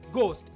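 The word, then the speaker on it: ghost: গোস্ট এখানে জিএইচ শব্দের প্রথমে আছে তাই উচ্চারণ গ হয়েছে।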